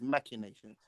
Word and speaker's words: machinations: The correct pronunciation of that word is machinations.